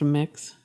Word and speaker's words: Mx: Ms mhm MX and it's pronounced mix yeah um cuz like just someone is non-binary or us as they them pronounce doesn't necessarily mean they like the title mix oh yeah one of